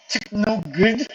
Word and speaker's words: TKNOGD: So, yeah, it's so technically it's pronounced Techno Good.